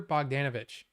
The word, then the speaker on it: Bogdanovich: feature commentary by director John Ford Boger Peter bogdanovich that's how you say it he passed away